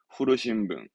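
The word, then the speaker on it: 古新聞: 발음은 후르신붕, 후르신붕.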